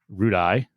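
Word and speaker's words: Roodee: race course which is also known as the rude eye i believe is how it's pronounced in chester england okay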